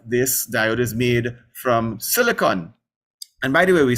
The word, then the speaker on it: silicon: amateur radio class so we should strive to pronounce the words correctly so silicon not silicone so silicon has a